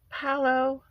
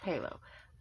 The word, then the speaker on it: Paolo: Paolo, I cannot stop thinking of those birds. Why do I keep saying his name wrong? It's Palo.